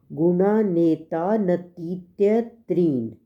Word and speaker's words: गुणानेतानतीत्यत्रीन्: First part में कहा है गुणानेतानतीत्यत्रीन्। ये शब्द है गुणान प्लस एतान प्लस अतीत्य आगे त्रीन। इसको याद प्रोनाउंसिएशन के लिए गुणा णापे कोमा नेता टापे कोमा नतीत्य।